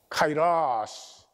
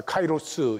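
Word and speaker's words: καιρός: 카이라스. 우리 한국은 이 라틴어 발음을 따라서 카이로스 이렇게 하는데 카이라스.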